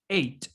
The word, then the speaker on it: eight: ven sep los dos son es y se pronuncian distinta luego tenemos el número 8 age en inglés cuando tenemos este final g ht